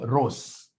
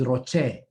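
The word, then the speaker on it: ROCE: a time i met some student somewhere who was calling this thing ros no professionally professionally professionally this is roche that's how you pronounce this it's roche return on capital employee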